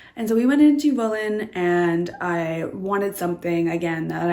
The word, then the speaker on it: Wohlen: We went to Wohlen, I believe it would be pronounced in German, Wohlen.